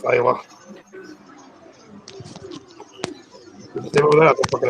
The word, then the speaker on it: Lila: That's pronounced Lila.